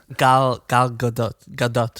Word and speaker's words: Gal Gadot: And it's too bad because, how do you pronounce it, Jason? Gal Gadot. Gal Gadot.